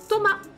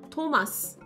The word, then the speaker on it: Thomas: Donc en français, on ne prononce pas le S.